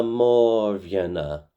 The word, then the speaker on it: mòr-bheanna: So, the lyrics to the chorus go Oh, hee hee me na maw veen a.